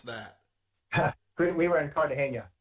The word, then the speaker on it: Cartagena: How do you pronounce that? We were in Cartagena. Cartagena.